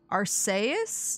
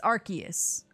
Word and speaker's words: Arceus: how to say it because apparently it's our arseis no it's arceus arceus you can't say